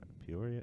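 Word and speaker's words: Peoria: Por Poria.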